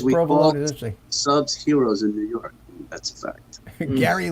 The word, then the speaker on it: gyro: a greek sandwich and in Greek gyro is pronounced hero yeah when people started